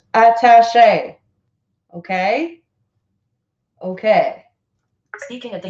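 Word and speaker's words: attaché: support from a key military official Venezuela's defense attache to Washington colonel joseluis Silva told Reuters that he has broken with the Maduro government and recognized dueño is entering president voiceover it is pronounced attache okay okay speaking at the UN meeting called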